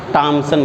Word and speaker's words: Thomson: जे थॉमसन। Hindi में कभी पढ़ा है इनका नाम? टॉमसन बोलते हैं, टॉमसन, जे टॉमसन। ओके, तो जे थॉमसन ने, प्रोनाउंसिएशन है अपना अपना।